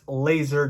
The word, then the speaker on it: Lazor: his name is bill laser yes it is pronounced laser go look it up